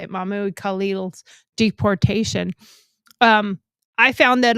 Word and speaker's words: Mahmoud: And as I was researching this stuff for today's show on Mahmoud, or uh, uh, yeah, that's how you say it, Mahmoud Khalil's deportation.